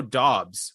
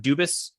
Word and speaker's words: Doubs: It is Doubs, right? It's not Dubas, as I've mistakenly pronounced at times.